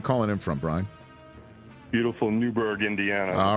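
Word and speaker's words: Newburgh: him from Brian beautiful Newberg Indiana all right sir Newberg Indiana is there an H in that silent h there is go a boy home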